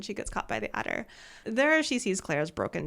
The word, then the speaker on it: Attor: Yeah, I absolutely thought that it was spelled like adder, like the snake. So I was imagining it as something kind of snaky, and it appears to actually be spelled ATTOR, which really threw me off.